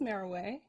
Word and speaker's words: Meroe: no no no no no you make people pronounce your name properly my name is maraway it's a personal thing okay okay it's your